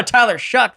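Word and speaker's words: Tyler Shough: like Tyler Shu you mean Showtime no no Tyler shuck that's how you pronounce his name and you were talking to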